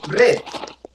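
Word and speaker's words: read: ahora el pasado es red se escribe igual pero se pronuncia diferente de red como el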